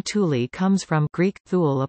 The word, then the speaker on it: Thule: Unlike the Latin pronunciation, however, the air base is pronounced using the Scandinavian pronunciation with an initial hard T rather than the Latin and Greek soft TH.